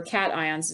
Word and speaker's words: cation: this is written and it looks like cajun i understand that but it's really pronounced cat ion and the best way to remember cations is that it has